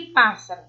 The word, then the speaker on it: pássaro: No item C estão as proparoxítonas, já que a sílaba tônica é a antepenúltima.